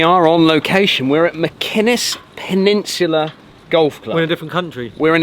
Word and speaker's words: Machynys: If you follow that, you'll get all the way to Llanelli and you end up at Machynys, is how you say it.